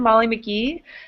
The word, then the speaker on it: Molly McGee: a map classic I'm Molly McGee my name rhymes with where I'm from Nashville Tennessee it's horrible don't remind me